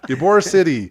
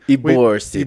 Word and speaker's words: Ybor City: Ybor City. Ybor City. Ybor City. It's spelled like Y-B-O-R.